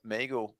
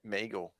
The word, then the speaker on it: Miguel: Meagle. Meagle, is it? It's Miguel, right? It's definitely Miguel. Yeah. It's because in Sweden it's me. Whatever. It's Meagle in Sweden. That's how you pronounce it.